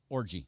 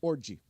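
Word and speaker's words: Orji: I wanted to mention is yes it's Alex orgy the new quarterback for Michigan Alex orgy o rji I right yes and it is pronounced we've checked it orgy orgy good for him yeah I like that name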